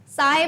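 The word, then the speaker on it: sigh: साई बोला मैंने तो कोई लोग सिग मत कह देना, ऐसे सिग नहीं है, इसका प्रोनाउंसिएशन क्या है, साई।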